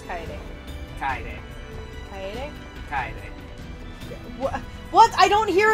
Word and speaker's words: Kaede: I thought there wasn't any other way to pronounce Kaede. Kaede. Kaede?